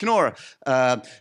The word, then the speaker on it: Knorr: So, as Matt just said, the Knorr brand, and he pronounced that with a K, which is already a great win.